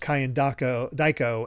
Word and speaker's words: Kaien Daiko: They also had a note that the flaming drum is pronounced Kaien Daiko in Japanese, but spelled with different kanji.